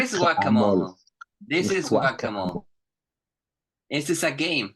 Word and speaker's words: whack-a-mole: guacamole. Playing no Guacamole. guacamole. It's whack-a-mole. Guacamole. What is Guacamole. guacamole? This is whack-a-mole.